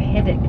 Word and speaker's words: Herdwick: particularly, as I said, the haddock sheep. It's spelt like Herdwick, by the way.